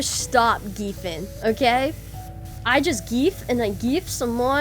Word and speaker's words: GIF: And GIF is pronounced as ge.